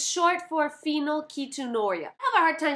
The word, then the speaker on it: phenylketonuria: It's not phenylketonuria, it's phenylketonuria. Ketonuria. Phenylketonuria. Phenylketonuria! I said it!